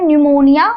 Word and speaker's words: pneumonia: न्यूमोनिया क्या होती है निमोनिया की जो स्पेलिंग होती है उसमें ये जो पी है वो साइलेंट होता है और बाकी जो एन ई यू एम ओ एन आई ए हम इसको प्रोनाउंस करते हैं न्यूमोनिया और पी साइलेंट होती है इसे आपको ध्यान